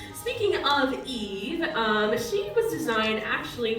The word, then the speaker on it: EVE: Yeah, he can't really say her name right, so he goes Eva. Her name is actually Eve.